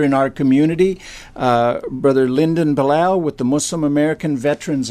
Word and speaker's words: Bilal: member and leader in our community brother Lyndon Bulow with the Muslim American Veterans Association good morning my name is Lyndon Bilal spelled in last name bi Lal pronounced Bulow and I am the national commander of the